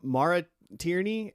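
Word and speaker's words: Maura Tierney: Uh, Mara Tierney.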